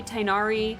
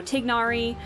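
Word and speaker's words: Tighnari: of my friends um I say tainari one of my friends says uh you know tignari just because of how it's you know how it's supposed to be pronounced or anything like that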